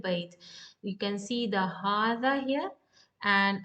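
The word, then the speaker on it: هٰذا: You can see the hadha here and a small alif saghira. That means we need to pronounce as hadha.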